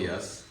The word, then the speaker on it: Yess: my name is yes um my last name is spelled ye SS second s is silent I um I realize